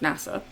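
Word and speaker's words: 星空: young boy called NASA kanji written as Starry Sky but pronounced NASA basically deciding to be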